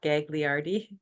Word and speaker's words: Gagliardi: your last name Gagliardi I pronounce it just how it's spelled Gagliardi gag oh nice nice